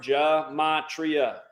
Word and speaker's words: Gematria: Yeah, you got to know how to spell that word Gematria. Gem, like Gem, at AT, and then RIA, kind of like the sporting goods store. Gematria.